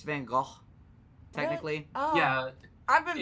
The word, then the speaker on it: Van Gogh: So, Dolly Van Gogh. Is that how you pronounce that? It's Van Gogh, technically.